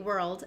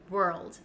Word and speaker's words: world: comes naturally world world but if you're learning English and the r and l transition is a little bit difficult and you're having trouble moving your tongue back and forth what you could do is break down the word and say were first and then to get the L Sound were old maybe you can add